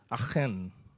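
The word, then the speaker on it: Achan: aitkin in the hebrew pronunciation is akhen you need to have the guttural sound it's like you know in the morning okay but we call it some call it so anyway so it's aiken we call it for now right so in chapter one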